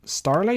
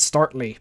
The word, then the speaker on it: Starly: did catch just asked starly is that how you say it yeah storyline keep thinking it's startly but uh yeah so